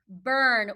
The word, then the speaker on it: burn: next to each other what does u r say er remember e r i r and u r all three say er so we would say it like this burn we don't tap out